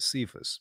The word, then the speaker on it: Cephas: but when kefas or some pronounce it cephas this is uh Peter's